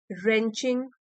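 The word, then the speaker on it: wrenching: Eight times means कभी कभार heart रेंचिंग moments. W silent है।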